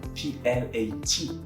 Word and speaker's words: plat: Then you have the word PLAT, but there's nothing after the T, so I'm not going to pronounce it. It's going to be plat.